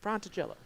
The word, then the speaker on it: Fratigello: The N is silent. No N. Fratigello.